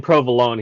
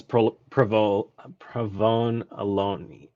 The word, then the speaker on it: provolone: And it would Yeah, so the guy does, instead of saying provolone, he says provone alone. Yeah, something like that.